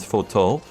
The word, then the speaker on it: Fortemps: See, it's spelled Fortemps, but it's pronounced Fortol, I think.